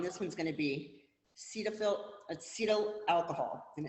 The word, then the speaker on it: cetyl: So your example on this one's going to be acetyl alcohol, and it's spelled C-E-T-Y-L, alcohol.